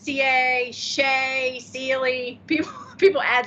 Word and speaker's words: Seay: twitter account i just put in parentheses it's pronounced c s-e-e yeah because that's where i got that's